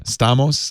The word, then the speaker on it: Stamos: No, I think he pronounces it a little bit differently. Stamos, Alex Stamos.